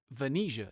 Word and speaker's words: Venia: Sunny Day pronounces that Venia even though it looks like Vanessa. I swear that is the pronunciation as AI Fred Benson